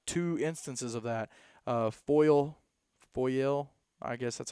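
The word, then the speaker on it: Foyil: you actually have two instances of that uh foil foil i guess that's how you say it foil f-o-y-i-l foil high school uh is at claremore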